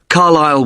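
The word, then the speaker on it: Carlisle: i s l e you don't pronounce the S carile way and that's in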